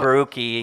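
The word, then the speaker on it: Borucki: So, what did you think of the whole Ryan Barucki and Kevin Kiermaier thing in Tampa?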